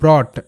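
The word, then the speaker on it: brought: ফট ফট এটা একটা প্যাটার্ন ফট তারপরে হচ্ছে ব্রট বি আর ও ইউজি এইচটি ব্রট বি আর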